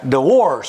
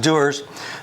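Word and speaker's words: Dewar's: deer and headlight because it's spelled d-e-w-a-r-s and it's like that's dwarves no it's not it's pronounced doers but uh most bartenders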